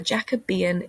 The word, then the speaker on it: Jacobean: the jacobean era looks like jacobean but it's pronounced the jacobean era and that's because king james king james